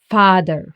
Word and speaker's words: Vater: The German A is pronounced as A, like in Vater, for example.